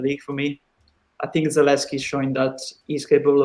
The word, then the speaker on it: Zalewski: Zalewski, is it how you pronounce it?